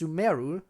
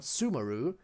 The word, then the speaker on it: Sumeru: need to remember that it's pronounced sumeru not sumaru even though up until now i and i think most people in the community have been saying sumaru instead of sumeru so that's gonna be